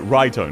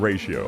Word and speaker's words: Raito: No, Raito, not ratio.